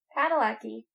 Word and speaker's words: Padalecki: I'm saying it like a Texan. Should know. Well, no, I'm not that Polish. I'd say it like a Texan. I'm sure is the way he says it because he's Texan.